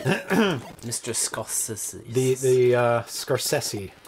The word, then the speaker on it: Scorsese: The Scorsese. Scorsese. That's how he pronounces it.